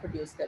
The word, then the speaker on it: coup: Type of injury is called as अ कू injury. इस injury को क्या कहते हैं? कू इंजरी। ये टी जो है इसका साइलेंट है, और अगर ऑपोजिट साइड